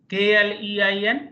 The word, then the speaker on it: klein: sound is coming so a i and EI is equalent to I of English so on the pattern you can pronounce k l e i n Klein m a i